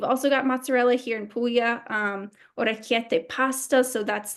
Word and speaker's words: Puglia: So why do some people call it a Pulia and some Pulya? So, this is a great question. Um, so pulya, the way it's spelled on the slide is the Italian spelling and pronunciation.